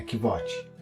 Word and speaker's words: Kvothe: Meu nome é Kvote, com pronúncia semelhante a Quoth.